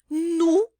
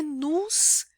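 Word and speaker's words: nous: Nu também não é nus, a gente não pronuncia o S final, nem do nu e nem do vu. O S geralmente não é pronunciado no final, mas às vezes ele é, né? Mas geralmente não.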